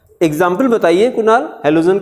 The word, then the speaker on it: halo: एक तो है जब ये प्रीफिक्स में आएगा तो इसको हेलो बोलेंगे, हेलो वाली स्पेलिंग नहीं है, अलग है ये, HALO, हेलो।